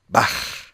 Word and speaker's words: Bach: by Johan Sebastian Bach how do you say Bach in German Bak all right yeah okay very good I didn't know that